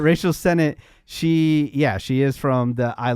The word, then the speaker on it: Rachel Sennett: how to say her name correctly, but Sonate? Rachel Sennett.